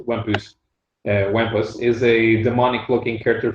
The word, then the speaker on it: Wampus: And Wampus, Frenchly pronounced Wampus, Wampus is a demonic-looking character from the future, an avatar of chaos.